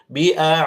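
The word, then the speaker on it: بِأَعْدَائِكُمْ: Jadi harus bedakan sebagaimana tadi di sini biikum panjang lima harakat ini panjangkan ya. E ini namanya mad arid eh mad wajib muttasil namanya. Kalau dia di tengah-tengah ada seperti ini. Panjangkan jangan cuma tiga. Bi'daikum panjangkan sedikit. Sabar biikum. Ya begitu ya.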